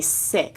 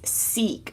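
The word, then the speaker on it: Sikh: Okay, so MJ said yes, it's pronounced okay sik. Okay, thank you so much for the clarification. So, in the sik temple, okay, actually, but um, everyone says seek.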